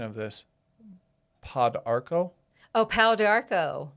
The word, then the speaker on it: Pau d'Arco: And you might help me with the pronunciation of this. Pau d'Arco? Oh, Pau d'Arco.